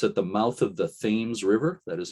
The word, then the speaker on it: Thames: ledge light it's at the mouth of the thames river that is how they pronounce it there not tim's like in england the thames river between new london and groton connecticut and